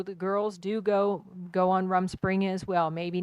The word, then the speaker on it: Rumspringa: But let's talk a little bit about, I don't even know how to pronounce that, Rumspringa? Rumspringa.